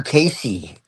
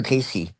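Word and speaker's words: Cayce: Edgar Casey was talking about that a hundred years ago and he said that it would be discovered in modern time.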